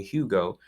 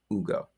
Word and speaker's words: Ugo: i can say is think about uber right when you say uber you don't put an h in it and call it huber so don't put an h in my name and call me hugo just the same way you say uber is how you say my name hugo that is it right